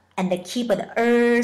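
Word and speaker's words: 二: Number two is R. R is a fourth tone. Please think this way. How many ears do you have? Two, right? Just remove the E sound and keep the R sound.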